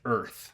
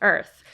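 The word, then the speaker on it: Oerth: e r t and it's pronounced Earth Earth but it has an o in there so you know it's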